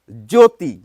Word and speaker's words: জ্যোতি: যারা উচ্চারণ নিয়ে অনুশীলন করেন তারা হয়তো বলবেন যে জ্যোতি যখন বলছি না তখন জয়ের উপর একটু প্রেসার দিয়ে বলতে হয় জ্যোতি, অর্থাৎ জফলাটি যার সঙ্গে যুক্ত রয়েছে সেটিকে একটু প্রেসার দিয়ে উচ্চারণ করতে হয়।